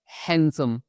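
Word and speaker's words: handsome: जैसे इस वर्ड को हम हैंडसम नहीं पढ़ेंगे। इसको हम पढ़ते हैं हैंडसम। यहां पे डी साइलेंट रहेगा। इसकी आवाज नहीं निकलेगी।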